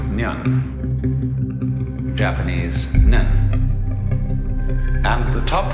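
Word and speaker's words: 念: It's pronounced Nyan.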